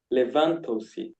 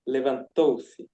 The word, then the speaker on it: levantou-se: You said levantou-se, but the emphasis is in the third syllable, so it's levantou-se.